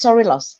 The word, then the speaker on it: Sorilos: So I want to welcome Kathrine Sorilos. Is that right? Is that how you say it, Kathrine? Sorilos. So it's actually it's Sorilos, exactly.